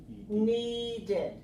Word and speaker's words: needed: say the word need then this word already has D on it so we cannot put two D sounds together we have to add another syllable so we say needed then this is the